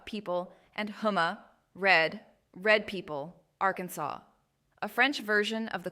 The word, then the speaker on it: Arkansas: Oklahoma from two Chakaw words Oklahoma people and Huma red people Arkansas a French version of the quapa trib's name the s is silent Louisiana named for king